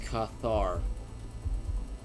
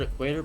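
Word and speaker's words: Qatar: So it's pronounced Cathar. I've always heard equator, but I'll do I'll do Cathar.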